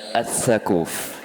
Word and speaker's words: Ats Tsaquf: Nggak tahu cara bacanya, Gus. SHAQAF. Sakuf apa sakuf ya? Sakuf. Sakuf. Tipu berarti tadi. Hah? Dil. Yakin. Amin. Selamat. Iya. Survei membuktikan. Jadi nama pemateri kita adalah Gus Muhammad Adam As-Sakuf.